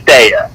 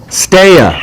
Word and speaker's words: Stea: I don't think I've ever heard her say it, but it's pronounced Stea. Stea. Stea, like Stea. Like stay away, or like stay away.